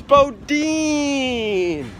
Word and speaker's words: Boudin: How do you pronounce Bodin? Boudin? Bodin. Bodin. Thank you. Bodin. It's Bodin.